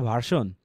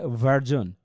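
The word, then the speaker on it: version: আমরা কিন্তু এটাকে বলি বেটার ভার্সন। না এটা হছে ভার্জন। ওই যে এস এর উচ্চারণটা এখানে জ হয়।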